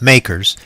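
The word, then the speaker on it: MACRS: accelerated cost recovery system most often pronounced makers is one of the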